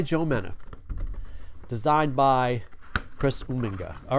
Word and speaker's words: Uminga: It's Chris Uminga. When you're on the show, I promise to pronounce it correctly.